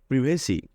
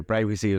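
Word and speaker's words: privacy: আমরা তো একদিন ধরে প্রাইভেসিও জানি ঠিক আছে তোমাদের প্রাইভেসি ঠিক আছে এবং এই প্রিভেসিও ঠিক আছে কেন ঠিক আছে এটা হচ্ছে ব্রিটিশ এক্সেন্ট ব্রিটিশ এক্সেন্টে বলে প্রিভেসি আর আমেরিকান এক্সেন্টে বলে প্রাইভেসি তাইলে এটা হচ্ছে প্রিভেসি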